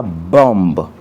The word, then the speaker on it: bomb: On ne dit pas th alors que ça s'écrit avec B. On ne dit pas bombe, on dit bomb pour dire la bombe.